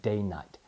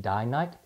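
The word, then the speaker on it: Dainite: call the Eaton here's an interesting tidbit about day night some people can pronounce it die night they came up with that name because they're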